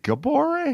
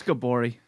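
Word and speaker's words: Gabourey: what her name is is it gaboree that's gabori sidibe that was gabare i mean i think it's spelled it's gabrielle no it's gabori it's gabori yeah she's i went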